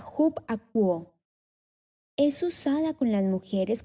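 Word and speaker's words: ὑπακούω: Son la palabra upaku, 52:19 en la Fuerte Concordancia, pronunciada hub-akuo.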